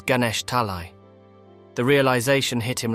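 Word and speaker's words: Ganesh Talai: his hometown for years it wasn't gesh Tali as he had remembered it was Ganesh talii the realization hit him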